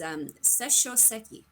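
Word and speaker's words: Sesshō-seki: It's Seshoseki. Sure. Just in case anybody wanted to know.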